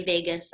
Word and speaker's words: vagus: our vagus nerve okay it's spelled vagus we say Vegas I don't know why but the vagus nerve